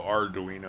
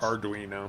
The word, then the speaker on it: Arduino: Oh, Arduino. I missed the R there. It's Arduino. well, it's spelled slightly wrong. I think it's ARD.